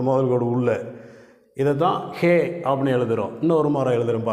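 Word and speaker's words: ה: அடுத்த எழுத்தை ஹே என்று உச்சரிக்கிறோம்.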